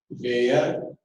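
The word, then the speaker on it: Baeyer: का आपको नाम मिलेगा बेयर या बियर, जो आपको पसंद हो नाम प्रोनाउंस कर सकते हो। बेयर बोलो या बियर बोलो, एक ही बात है।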